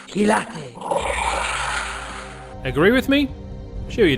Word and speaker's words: Kilate: Gilate, pronounced Ki-La-Te. Have a listen. Gilate. Gilate. Gilate.